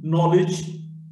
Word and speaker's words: knowledge: K in the sequence KM. K is not pronounced. No, knowledge, knife, etc.